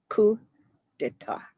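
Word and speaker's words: coup d'état: So it's two French words. A coup of the state. A coup of the state. You don't say this P and you don't pronounce this T. So it's coup d'etat.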